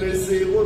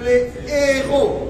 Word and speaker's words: héros: On n'accorde jamais. On ne dit jamais les héros. J'ai entendu dire les héros nationaux. Non. C'est les héros.